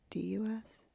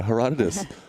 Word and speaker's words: Herodotus: Herotdus. Yeah. Anyway. Herodotus. Thank you. No, I don't think that's how you say it. Sarah, how do you say it? Herodotus.